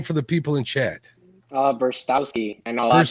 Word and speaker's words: Brztowski: Brztowski.